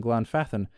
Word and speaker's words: Glanfath: Conversely, th is a softer sound in glfathan, barely vocalized, like when one says thief or thought. So, thief or thought or versus this or that.